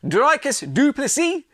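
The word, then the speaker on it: Dricus du Plessis: have the new Champion drus dupy the S is silent and I like I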